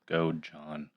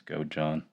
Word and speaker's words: Godejohn: Yeah, I think it's Godejohn. Godejohn. Maybe it's a soft J, like yogging. Gojan. Anyways, so yeah, I knew